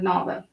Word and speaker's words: Nava: Not, and I may pronounce it wrong because I don't know if it's Nava or Nava, but I'm going with Nava, like lava.